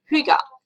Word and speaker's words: hygge: So the origin of hygge, it's sort of, you think it sounds like that, but it's pronounced hygge, H-Y-G-G-E, comes from a Norwegian word meaning well-being.